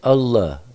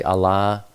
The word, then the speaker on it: Allah: These are all bloodlines of Esau and Ishmael, Islam and Allah worshippers. I know a lot of people say Allah. I've always heard it pronounced by those speaking that language as Allah.